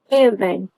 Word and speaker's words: pedem: This means it's pedem. Notice how the first E needs to be open.